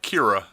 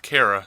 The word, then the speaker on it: Kara: Yeah, but she still keeps calling her Kira instead of Kara.